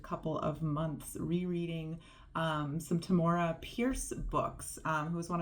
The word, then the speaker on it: Tamora: shocked to discover that I think her name is pronounced Tamora, which blew my mind because she's been Tamora in my mind for decades now.